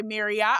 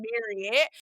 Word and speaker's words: Marriott: We always say Marriott because that's how they pronounce their name. Even though people say Marriott all the time, they pronounce their name Marriott.